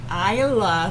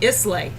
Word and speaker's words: Islay: how to pronounce it when we started this more than 29 shows ago i would always say islay now i know it's an island single mall which means